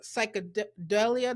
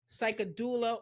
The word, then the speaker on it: Psychedoula: told me you said I'm a self-accepting coach, psychedelia. Did I say it right? Dula. Psychedoula, author of several affirmations and oracle decks, and you could talk about anything.